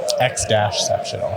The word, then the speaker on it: X-Ceptional: X-Ceptional is how it's pronounced.